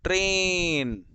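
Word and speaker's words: train: कहा ना बेटा कि अगर दो वॉवेल्स एक साथ हैं तो पहले वाले का लॉन्ग साउंड आएगा और दूसरा वाला साइलेंट। तो टी आर ए आई एन, ट्रेन, चुक चुक चुक चुक चुक चुक।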